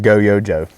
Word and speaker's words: GOYOJO: A company called GOYOJO, and that's right, I'm saying it right, reached out a while back.